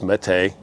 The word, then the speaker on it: Mete: They tell you how to pronounce it. It's Mete.